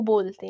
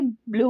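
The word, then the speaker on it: blu: Italian में ये ब्लू होता है, ब्लू मतलब हम अपनी आवाज़ को थोड़ा सा मोटा करके बोलते हैं, तो लेकिन इंग्लिश में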